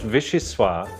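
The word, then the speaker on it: vichyssoise: aroma is divine vegeta is spelled v-i-c-h-y s-s-o-i-s-s-e pronounced visceswa who visual sue is served with cossette's homemade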